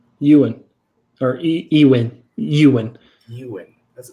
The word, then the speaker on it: Ewan: It's not Evan. What is it? Ewan.